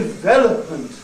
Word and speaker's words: development: bees de H meant the word is div development no stress on the first level but on the second development one of the